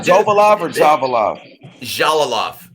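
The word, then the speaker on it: Jalolov: Jalalov. It's pronounced Ja. Like the J. Jalalov.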